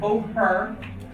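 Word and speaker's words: bóthar: And Boher, because that's the H sound, and that is a beautiful expression.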